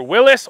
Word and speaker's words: Willys: So this is the Jeep Gladiator Willys, or Willys, depending on how you want to pronounce it. I think we'll go with Willys for the point of this video.